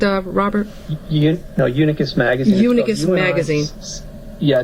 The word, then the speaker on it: Unicus: Unicus Magazine. Unicus Magazine. Yeah, it's Latin. It's spelled UNICUS Magazine.